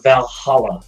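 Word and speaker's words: VA-11 Hall-A: would pick here is a Valhalla though it's spelled weirds VA 11 call dash a um cyberpunk bartending action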